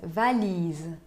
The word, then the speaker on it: valise: Dans ma valise, valise. Né? Se insiste no I na penúltima sílaba, porque a última sílaba contém um E mudo.